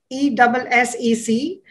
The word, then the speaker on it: ESSEC: Then there is ESSEC, E-S-S-E-C. I will not say the expanded version in French because I will surely mispronounce it.